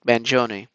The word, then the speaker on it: Mangione: capturing his every move mangion then stood in front of a judge who explained that he could be extradited the way she's mispronouncing his name is driving me off the wall it's Manon to New York City